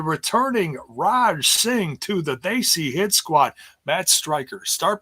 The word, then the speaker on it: Desi: It's not Desi. It's like he went out of his way to call it Desi. It's not Desi. It's They See Hit Squad.